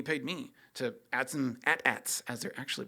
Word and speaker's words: AT-AT: Another wedding photographer did, and he paid me to add some AT-ATs, as they're actually pronounced, and some lightsabers in there, and have fun with that.